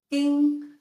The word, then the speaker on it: 丁: In most cases, they're pronounced 丁 or 听, d, t, with a variety of tones. 丁 plus a mouth means to sting, a bee, a mosquito. 丁, ding, with this part around